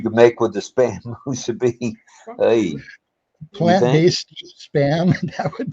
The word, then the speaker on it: musubi: That's what you get with the spam musubi. How do you say that? Musabi?